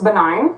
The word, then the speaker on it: benign: the anti- synonyms 400 you pronounce the G in malignant but not in this happier medical antonym Caitlyn what's benign correct uh antonym 800